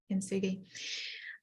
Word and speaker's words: kintsugi: So I was reminded of the Japanese art form of kintsugi. Am I saying it correctly? Yeah, kintsugi.